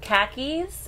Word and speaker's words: khakis: a least to say cuz khakis and car keys are pronounced the same so I'd be like